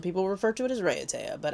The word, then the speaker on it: Raiatea: Sometimes some people refer to it as Raiatea, but I think it's Raiatea. Raiatea, we've been there before.